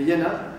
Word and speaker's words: Villena: I d'ahir pues, es queda la Medina, la ciutat de Villena, que és la pronunciació tradicional en B, valenciana, com Villeneta, que és Milleneta, que no ho descanvia. Conyato, conyato, Villena, Villena. És en B, i en la tradició